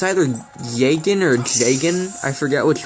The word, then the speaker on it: Jagen: Anyway, in the old, Fire Emblem OVA, they pronounced his name as Jagen, so that's the one I'm going with for this.